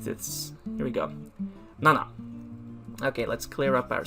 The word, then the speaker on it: 七: next up is number seven seven is uh pronounced as nana but again just with number four uh where number four is both pronounced as yon and shi nana is pronounced also as shichi so it depends you have nana or i